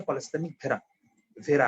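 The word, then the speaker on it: polycythemia vera: তো ভেড়া মানে আবার ওই বাবা ব্ল্যাক শিপ ভেড়া। পলিসাইথেমিক ভেরা বলে, অ্যাকচুয়ালি উচ্চারণটা হচ্ছে পলিসাইথেমিক ভেরা আর কি।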